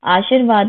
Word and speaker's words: आशीर्वाद: आशीर्वाद में रा वा से पहले बोला जाएगा आशीर्वाद।